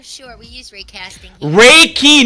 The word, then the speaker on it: Reiki: Reiki, not ray casting. What the hell are you talking about? Holy shit, do we have to spell it out to you? Oh, Reiki! No. Two syllables!